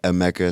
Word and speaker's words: Emeka: And so in the yearbooks, it would be like a Mecca. So, E M E K A. Yeah. But the full pronunciation of my name is which means God has done something well.